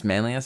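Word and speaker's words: Manlius: Um a cantina Taco Bell in Manlas Syracuse. New York. It's Manlas. That's how that's how it's said.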